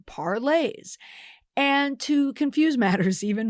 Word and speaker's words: Parler: confuse matters even more it's meant to take on the all France form of parlay which means to speak or to talk parlay Vu parlay to Parlay but it's just not pronounced that way on the front page